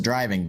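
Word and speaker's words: Drivin': gave us is our driving on the second Japan hey hey hey hey hey did you pronounce the non-existent G Oh drivin yeah that's better yeah it's developed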